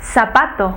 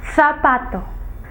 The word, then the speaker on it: zapato: s y la zeta los españoles pronuncian la zeta con un sonido diferente ellos no dicen zapatos como nosotros los de hispanoamérica ellos dicen zapato zapato el sonido de la zeta de ellos es un poco diferente para nosotros la